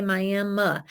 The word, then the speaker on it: Miami: christian church miami texas it's spelled miami but they say miami and they called me